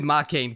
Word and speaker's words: Makeine: Well, okay, I mispronounced the name, but when they put the E and the I next to each other like that, you have to say like K as one syllable. So it's Makeine. So it's not Makeine, it's like Makeine.